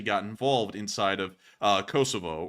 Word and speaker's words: Kosovo: involved inside of uh Kosovo or Kosovo or whatever you all like to call we're going to try and call it Kosovo from here for because apparently that is the right way to say it but there was actual